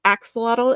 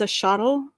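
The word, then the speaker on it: axolotl: It's not axelottle, it's a shuttle.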